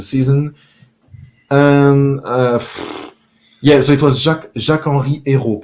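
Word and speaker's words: Jacques-Henri Eyraud: and so it was Jacques-Henri Hérault pronounced in French, so Jacques-Henri Hérault pronounced in English, I would say, who was the president before Pablo Longoria.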